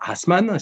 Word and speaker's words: Assmann: hologue favoris qui s'appelle jean william assmann si on prononce à l'allemande dont kita allemand qui